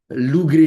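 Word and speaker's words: LuGre: Lou-Gray model. You know that? Lou, G-R-E-E in English. G-R-E-E. Lou-Gray, the gray because came from Grenoble. In English, probably Lou-Gray, you can say, but somebody pronounced Lou-Gray because it's Grenoble.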